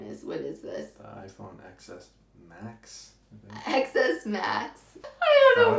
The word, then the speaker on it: iPhone XS: It's the iPhone XS Max. Okay, it doesn't have an X in it? X is the Roman. You're not supposed to pronounce the X.